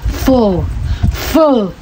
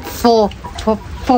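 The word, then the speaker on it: phở: Very satisfy yung ating ano fo ganon po siya bigkasin. Akala ko dati basa doon po yung parang fo pala dapat pala f ganun pala yung mga ano.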